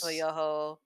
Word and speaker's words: Shmoyoho: Shmoyoho. Accent on the yo.